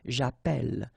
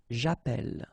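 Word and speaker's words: j'appelle: in a previous video if you have you know Double L like that it will affect the pronunciation of the uh so actually it will open the sound and that's the reason why you will get the sound e okay japel japel all right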